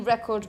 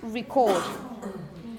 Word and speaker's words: record: say, I'm going to record. And you have a different stress pattern. The stress is on the second syllable, and also the first one is a little different.